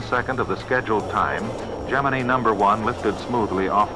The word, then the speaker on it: Gemini: I think technically both are correct, but in old NASA footage and reports from the 1960s, it's pronounced Geminy. And that's where I've landed on it. Within 1 second of the scheduled time, Geminy number one lifted smoothly off the pad.